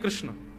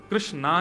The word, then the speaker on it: कृष्ण: है बुद्धि एकाग्र नहीं कृष्ण कृष्णा नहीं कृष्ण ठाकुर जी का नाम